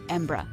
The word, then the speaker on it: Embra: Many non-native English speakers say Edinburgh, which is not exactly how it should be pronounced. In fact, there are at least a few different ways to pronounce it. Most people in the UK pronounce it either Edinburgh or Edinburgh. Interestingly, many locals tend to abbreviate it to simply Embra.